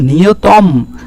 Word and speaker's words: নিয়তং: তুমি তাহলে বললাম কি অনুসার উচ্চারণ কি হয় ময় হসন্ত উচ্চারণ হয় তাহলে উচ্চারণ কি নিয়তম কুরু কর্মতম তাহলে এই যে নিয়তং